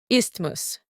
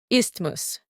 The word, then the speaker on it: isthmus: This word is pronounced as Isthmus, Isthmus.